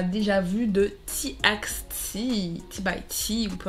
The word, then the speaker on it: déjà vu: titre déjà vous ou déjà vu c'est comme ça qu'on dit en français on dit déjà vu voilà moi je prononce à la française et donc nous allons